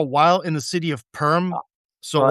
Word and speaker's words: Perm: in the city of Perm. So, well, right? it's pronounced more like Perm in Russian, but I don't wanna say it that way to sound like a freak.